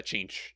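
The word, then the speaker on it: Tzeentch: no you'd have a change so uh is it really depends on you know who you listen to but it's either change or zinc it's spelled with a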